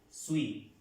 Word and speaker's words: suis: más fácil jesuit ser suite suite la s no la pronunciamos sweet and lies sweet yo soy yo estoy